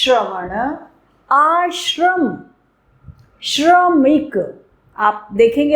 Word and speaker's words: श्रम: र श श्रवण आश्रम श्रमिक आप देखेंगे आप ध्यान देंगे कि आप उसमें हल्का सा र का उच्चारण भी हो रहा है।